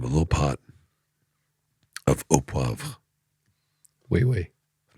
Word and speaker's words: poivre: You're going to have a little pot of au poivre.